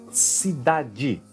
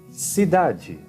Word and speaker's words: cidade: Somente ao final das palavras nós vamos pronunciar como di ou diz.